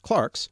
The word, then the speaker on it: clerk: in the middle ages clerks sometimes now pronounced clarks were the only well-educated